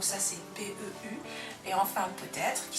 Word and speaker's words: peut-être: Là, on n'a pas trop à réfléchir parce que le T, on l'entend, peut-être.